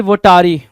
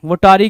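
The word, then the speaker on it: votary: या फिर कुछ लोग इसको वोटारी पढ़ेंगे, कुछ वोटेरी पढ़ेंगे, तो it depends up टू यू कि क्या प्रोनाउंसिएशन निकाल के ला रहे हो। वोटेरी भी ठीक है, वोटारी भी ठीक है।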